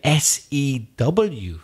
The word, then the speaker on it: sew: But we're talking about S-E-W sew. Ah, coser. So the pronunciation is the same of S-O and S-E-W.